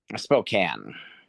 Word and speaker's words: Spokane: Spokane.